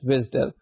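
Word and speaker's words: WSDL: web service description language it's pronounced as विडल सो विडल एक एक्सएमएल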